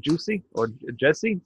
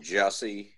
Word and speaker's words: Jussie: do with music, but the actor, I can't pronounce his first name, Jesse Smollett. You guys know about this? Oh, Jussie, yes.